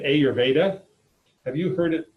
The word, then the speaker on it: Ayurveda: if you catch an Indian commentator on pronunciation, I think the emphasis should be on Veda, Ayurveda, as far as its emphasis, as opposed to Ayurveda, which would be how an American would attempt.